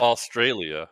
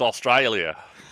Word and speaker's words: Australia: It's Australia, which I pronounce correctly. It's not Australia. It's Australia.